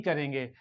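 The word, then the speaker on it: car: को प्रोनाउंस नहीं करेंगे तो ब्रिटिश इंग्लिश में क्या होता है आर इज not pronounced आर को आर को प्रोनाउंस नहीं करते और अमेरिकन इंग्लिश में आर को क्या करते प्रोनाउंस करते और जो ए का साउंड है वो बिल्कुल सेम वैसे ही रहता है सी ए आर ब्रिटिश इंग्लिश का कार सी ए आर कार American English C ए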